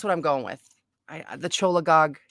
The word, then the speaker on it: cholagogue: Cholagogs. I was way off. Really? Cholagogs? You actually pronounce the CH on this one?